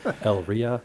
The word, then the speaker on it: Elyria: Is that Elyria? What is that town? El Ria. Yeah, exactly.